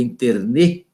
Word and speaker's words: internet: Unidos, segundo alguns autores, trata-se de uma palavra francesa, então o certo seria internet, né? Porque na língua francesa o T ele é tônico, então não, seria a última sílaba tônica, né?